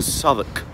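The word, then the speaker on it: Southwark: oh my God and it's actually spelled like saying South walk what a stupid way of speaking but that's what the old English did so it's s o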